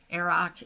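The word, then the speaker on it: Earrach: That pattern, Aroc, it's E-A-R-R-A-C-H, and I believe I'm pronouncing it right.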